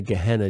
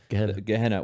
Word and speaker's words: Gehenna: Gehenna, which is a Greek pronunciation of a Hebrew word, Gai Ben Hinnom, which